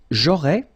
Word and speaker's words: j'aurais: J'aurais, remember, final S not pronounced.